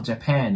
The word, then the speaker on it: Japan: 方多いですけどまずね最初のジャジャの部分これシュワーの音になるのでこれねあとウの中間音の曖昧ボインて